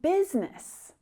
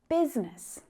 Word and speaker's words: business: And business has a silent I as well. Business. But what makes that word even more confusing is that there is an E sound in there though it's represented by the letter U.